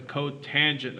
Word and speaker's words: cotangent: And the last one is spelled COT, and it's pronounced the cotangent of theta.